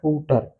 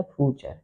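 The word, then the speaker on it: future: ठीक, तो हम लोग क्या पढ़ेंगे इसे, फूटर क्या पढ़ेंगे इसे, फूटर, लेकिन ये क्या है, फ्यूचर, फ्यूचर।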